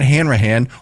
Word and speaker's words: Hanrahan: don't even know where to begin but Matt Hanrahan welcome to the show thank you for joining